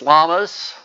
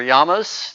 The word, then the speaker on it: llama: At Cal in Berkeley, they're having 6 llamas or yamas, depending on where you're from and how you pronunciate it.